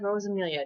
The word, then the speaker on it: Rosamilia: books and i'm doing an interview with armand rose amelia did i say it right yes all right